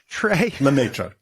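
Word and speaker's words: Lemaître: There was a guy, and I can't pronounce his name. What's his name? Lemaitre? Lemaitre.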